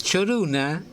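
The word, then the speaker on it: Chorùna: El Choruna es una derivación de Coruña, pero así como yo pronuncio mal el gaélico, los escoceses gaélicos en vez de Coruña dicen Choruna.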